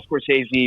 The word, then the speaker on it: Scorsese: like this could very easily be an all Scorsese or an all De Palma Mountain, and I decided go with one from each. And one Scorsese, has he made a mob movie? Am I pronouncing it right?